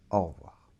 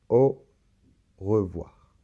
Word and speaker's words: au revoir: a appelés 1,10 g a et u ça fait le son au alors la lettre v